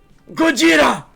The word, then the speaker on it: Gojira: for arcade industry happenings Gojira for those of you that you don't know or who are not aware Gogeta is the Japanese pronunciation for Godzilla also a band also